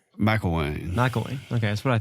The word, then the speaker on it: Mcilwain: How do you pronounce your last name? Mcilwain.